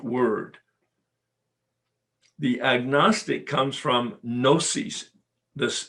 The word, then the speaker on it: gnosis: the agnostic comes from gnosis this the g is silent g-n-o-s-i-s gnosis which means knowledge and